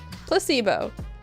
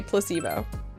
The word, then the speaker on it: placebo: to our vocabulary today repeat after me placebo is stress is on the middle syllable you want to say placebo splendid it's so charming